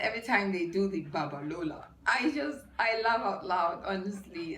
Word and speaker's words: Babalola: Babalola, not Babalola.